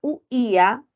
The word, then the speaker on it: huía: y siempre permanecen juntos pero al pronunciar huía está ahí se vuelve tónica y la Tilo porque hay una ruptura con la a se produce un hiato acentual recordemos que al igual